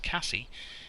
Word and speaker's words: Case: Looking around the internet, I believe that could be pronounced Cassie, in the same way that the popular brand of prams could be pronounced Hannah. But because I call those Jane, to generally annoy people who call them Hannah, I'm going to refer to this as Case.